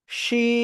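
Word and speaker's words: ش: ওই জিহ্বার মধ্যখান তার বরাবর উপরে তালুর সাথে লাগাবো, লাগিয়ে শা শা শব্দ করে আমাদের এই অক্ষরটা উচ্চারণ করতে হবে।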